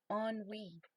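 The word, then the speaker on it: ennui: of occupation or excitement and it's and it's pronounced on we on me okay who would have known huh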